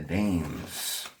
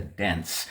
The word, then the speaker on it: Daens: I'm sorry, Bahloo and the Danes. So here we have Bahloo and the Danes. I'm sorry, Bahloo and the Daens.